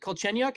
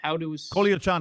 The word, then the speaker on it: Kolyachonok: Is it Kolchenyuk? How do we pronounce the last name? Kolyachonok. Vladislav Kolyachonok. Kolyachonok. Okay.